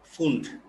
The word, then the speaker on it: Pfund: তাহলে ব্র্যাকেটের পরে এরপরে যিনি সফলতা লাভ করেছেন তার নাম হচ্ছে ফুন্ড। ওনার নামটা যদি বানানটা অন্যরকম, PFUND, পিটা প্রথম উচ্চারণ হয় না, তো এটাকে কোনো বইতে ফুন্ড লিখছে, কোথাও ফান্ড লিখছে, যেটাই হোক একই কথা, ফুন্ড ফান্ড যেটাই বলুক।